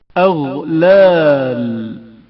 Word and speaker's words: اغلال: اغلال غین کی آواز جریان رکھتی ہے اور اچانک منقطع نہیں ہوتی.